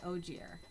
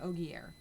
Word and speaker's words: Ogier: And Loial is an Ogier, or an Ogier, depending on how you want to pronounce it.